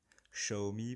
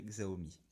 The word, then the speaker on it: Xiaomi: Xiaomi pour ceux qui veulent prononcer à la chinoise, moi je dirais Xiaomi.